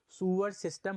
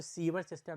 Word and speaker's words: sewer: सूवेज होता क्या है, सूअर सिस्टम होता क्या है। शब्द प्रोनाउंसिएशन में मत इसको सीवर सिस्टम नहीं सूअर सिस्टम ही बोला जाता है, SEWER।